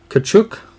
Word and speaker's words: Tkachuk: by the way brady tkachuk T is silent mathieu Perreault I heard